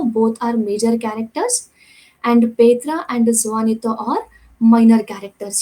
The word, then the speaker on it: Petra: and then comes petra you should read it as pedra not petra it should be read as petra so petra is the